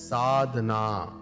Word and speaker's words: sadhana: of the Seeker is called sadhana it is pronounced as sadhana accomplished wise or sidha the Seeker who has